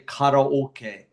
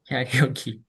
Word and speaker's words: karaoke: Sometimes our pronunciation um you know for example Japanese say koke right? Yes. But we say we say karaoke. Karaoke because for English K is very unnatural.